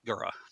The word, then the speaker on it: Igura: I'm not too sure exactly what the first sound is. I've seen it in a couple places where it's I, and it's a, but it's going to be Egura.